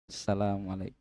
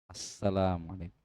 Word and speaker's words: assalamualaikum: Nah kalau kita perhatikan banyak imam itu asalamualaikum salam. Asalamualaikum warahmatalaikum. harusnya assalamualaikum itu lebih bagus, lebih sesuai ya kita kalau imam bagaimana?